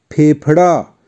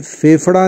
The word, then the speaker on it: फेफड़ा: अब कुछ उदाहरण जिन शब्दों में फ बीच में आता है जैसे सफल, असफल, सफलता, फेफड़ा। ध्यान दीजिए, मैंने फेफड़ा नहीं कहा, फेफड़ा।